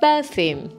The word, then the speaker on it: perfume: So, Jamie, do you like perfume? Now, pronunciation, guys. Perfume, not perfume.